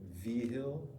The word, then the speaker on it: Vigil: Officer Anthony Vigil, pronounced like Vigil, is the one that you want to talk to.